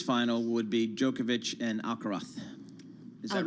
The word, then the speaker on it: Alcaraz: So we're hoping for a repeat Alcaraz. of Alcaraz. Alcaraz. Like it ends with a TH. Alcaraz.